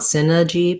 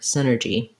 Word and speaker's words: synergy: tight american r so you don't want synergy but sinner synergy um it's like the word sinner at the start um yeah okay thank